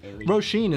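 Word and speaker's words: Saoirse: so many kids i really liked the name rosheen is one that took me ages to figure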